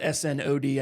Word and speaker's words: Snaadt: So when I first kind of got into networking and meeting people, everyone always struggled with my last name. So it's Snod. It's S-N-A-A-D-T. If it was spelled S-N-O-D, I think anyone would get it, but it's the spelling that throws people.